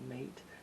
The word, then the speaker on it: MATE: I think that's how you say it, but it's like a mate, spelled like a mate, but it's pronounced Mate.